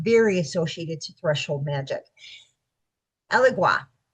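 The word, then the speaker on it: Elegua: Allegua. Okay everybody pronounces this a little bit different. Alua is how I pronounce this.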